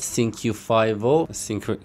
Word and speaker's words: Cinq5o: من اومدم با یه ریاکشن دیگه از سینکیو فایو. به گفته خودش ازش پرسیدم، گفت همینجوری تلفظ میشه، با 88 نوی رو